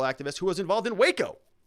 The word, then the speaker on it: Waco: who was involved in waco let's not pronounce wacko okay for years chitman